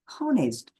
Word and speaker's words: honest: similarly an honest it is not honest don't pronounce with honest because s is silent there it is pronounced